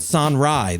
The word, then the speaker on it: Sonrai: though I the way every time I read it I want to pronounce it son Rai that's s o n r a i what's the deal with